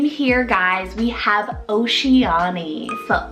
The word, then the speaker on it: Oceanie: O name here, guys, we have Oceanie. So O-C-E-A-N-I-E, Oceanie.